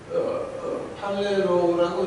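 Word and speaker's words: πληρόω: 헬라어에서 어떻게 나오냐고 그러면은 이걸 한국말로 발음을 쓰려면은 팔레로우가 되겠죠. 이제 이게 팔레로우라고 이제 이렇게 발음이 되겠어요.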